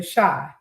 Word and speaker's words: Chi: The show is called The Shy. He trying to say it's chai like a chia seed, like CH. Chai. It's spelled like that, but it's called The Shy.